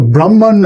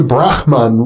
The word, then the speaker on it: Brahman: my my deepest inner self is equal to Brahman, which am I pronouncing that correctly? Brahman.